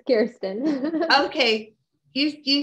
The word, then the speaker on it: Kirsten: say your name wrong it's all right it's kirsten okay you you say